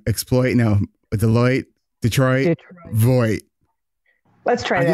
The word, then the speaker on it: Voigt: Exploit, no, Deloitte, Detroit, Voigt.